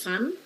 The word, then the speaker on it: van: Paul fun Merlin yes I think we are supposed to give the pronunciation for the Vans as fun so fun mikarin is in the